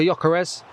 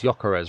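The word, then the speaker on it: Gyökeres: It's weird because I say his name's Gyokeres, right? And I always hear the media calling him Gyokeres. But every stadium announcer calls him Gyokeres in here.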